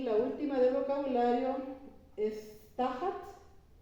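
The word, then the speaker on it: תחת: Y la última del vocabulario es tajat, tajat porque tiene acento en la primera sílaba, con una taf y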